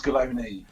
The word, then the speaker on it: Gallone: pronounced your surname correct is it galon it's cologney oh cologney you got the e at the end with galoni i'm cook with an